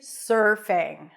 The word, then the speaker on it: surfing: pronounce the word surfing you start with an S sound then it's the r as in stir so you transition directly from the s to the r sir sir sir like yes sir there